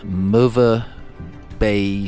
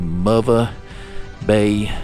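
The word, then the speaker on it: Möwe Bay: it again, but at MOVA Bay Station. So that's how I was told that's pronounced. M O W is the W is a V. So MOVA Bay Station.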